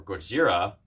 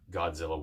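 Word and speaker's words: Gojira: that he is known now as Godzilla or godzira as is known the proper pronunciation of it reeks havoc on the town again and now it takes the military scientists to stop Godzilla once and for all all but we all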